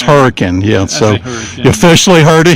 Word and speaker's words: Hurricane: hurricane so it's pronounced hurricane yeah I pronounce that everything hurricane so it's hurricane yet so officially heard of here that is the official way it is pronounced by the locals yeah were you able